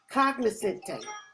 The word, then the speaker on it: cognoscente: So our word for today is cognoscente. Cognoscente, that has 4 syllables, so that means that we're going to clap it 4 times, we're going to snap